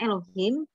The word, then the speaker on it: Elohim: Allah itu di sananya bacanya Elohim.